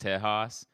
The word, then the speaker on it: Texas: They say it's pronounced Tejas.